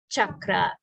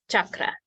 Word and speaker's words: chakra: sounded such sound yeah chakra uh it wouldn't be either because that's what is that what it's a k sound right that's not a misspelling it can also be